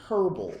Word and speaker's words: herb: I want to say herbal I want to say herb but um apparently if I say that here in America I sound like the H is supposed to be silent but is it